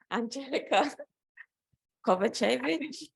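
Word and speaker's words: Anđelka Kovačević: I'm going to say your name wrong. Andjelka Kovacevic. Is that right?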